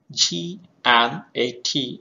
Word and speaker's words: gnat: G N A T is not. T-O-N-G-U-E, tongue. C-H-A-L-K, chalk. W-H-I-S-T-L-E, whistle. So here in the first word itself, G is not pronounced.